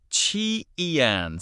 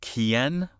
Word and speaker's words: 前: Chi-ian. So is that pronounced like K, like Kien? Nope. In Chinese, Q never sounds like K. It actually sounds like CH, like in cheese.